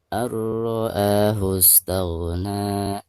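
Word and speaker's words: رآه استغنى: Ada nun sukun lalu berhadapan dengan salah satu huruf idgham, di sini huruf ro. Dan huruf ro ini termasuk idgham bila gunah. Maka cara membaca nun sukunnya itu harus dimasukkan langsung ke huruf ro-nya disertai dengan tidak gunah ya.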